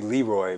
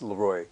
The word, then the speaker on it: Leroy: Yeah, it's from French.